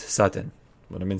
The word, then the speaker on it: Sutton: gonna go with Sutton there's some people last week of telling me I didn't know how to pronounce it because I was saying with DS than T's no it's with T's Sutton what I've been saying